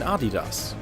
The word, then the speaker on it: Adidas: similarly overtake the biggest companies of that time Adidas and Puma M camaras had replaced the dominant German cameras in the American market and he wondered whether Japanese shoes could do the same to Puma and Adidas which were at the time extremely popular in